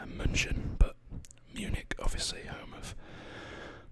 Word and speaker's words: München: Okay, another place I've been down here is Munich or München, if you are saying it the way it's said in Germany. It's München, but Munich, obviously home of probably the most famous German football team, Bayern Munich.